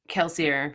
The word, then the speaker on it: Kelsier: fans that is keler kelsier for the plees I will never pronounce it in the French fashion because it's not [